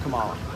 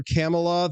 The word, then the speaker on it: Kamala: You're with Kamala, though.